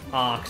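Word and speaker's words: Acht: I read somewhere that these are basically off the hook plus act colors? Oh god, I forgot how to pronounce arc, that's it's right. Act, because it's like 8 in German.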